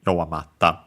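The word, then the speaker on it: 弱まった: Originally, we changed the U into I, yowamari, ta. But then the I fell, yowamarta, difficult to pronounce, so simply became double consonant, doubling of the following consonant, yowamatta.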